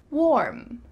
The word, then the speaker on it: warm: Warm, warm, warm. Make sure that this is one syllable.